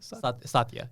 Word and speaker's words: Satya: and we talked about so how do you pronounce his name exactly? Satya. Satya.